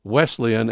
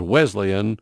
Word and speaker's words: Wesleyan: If you pronounce Wesleyan as Wesleyan on the news, I'm going to go on the air and say you mispronounced it.